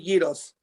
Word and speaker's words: gyros: He Euro, and I'm Greek, so he can't pronounce it. That's okay. I don't fault him at all for not being Greek. It's not his fault. But we say gyros.